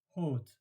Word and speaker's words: haute: So haute, if you don't know, then you will have written OTE. But because there is an H and also the circumflex accent, then you pronounce haute.